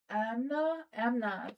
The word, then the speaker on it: Amna: It's not Anna, it's Amna.